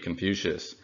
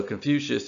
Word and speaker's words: Confucius: the time and so Confucius is a latinized spelling of gong foods and the English pronunciation was even farther from what it would have been in Latin which would be something